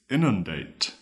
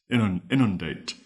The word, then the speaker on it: inundate: Our final word is inundate. Inundate. It is spelled I-N-U-N-D-A-T-E. Date. Inundate.